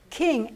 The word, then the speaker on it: king: Okay, king, N-G. You don't really hear the G sound. You don't pronounce king, G.